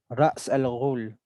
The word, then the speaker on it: Ra's al Ghul: Some people say his name is Raz. But since I grew up in an Middle Eastern country, an Arabic country, the pronunciation Ra's al Ghul, meaning head of the demon.